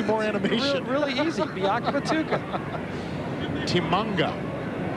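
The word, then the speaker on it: Tshimanga: Timanga. But they call him Tim, but he prefers Timanga. Am I right?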